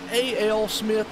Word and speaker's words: A.L. Smith: We got, now, is that A.L. Smith? Is that how that is pronounced? Yes, sir. All right, good deal. I just want to make sure, because I'm up here talking about A.L. Smith. I didn't know if it was like Al or All or I don't know.